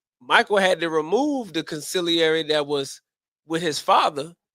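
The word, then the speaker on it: consigliere: See, going back to the Godfather, see, you have a wartime consulary. I'm pronouncing it right. Conciliary is the word. Conciliary. Thank you, sir.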